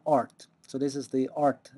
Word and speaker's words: Rt: application programmers interface and just like QT can be pronounced cute uh RT is also pronounced art so this is the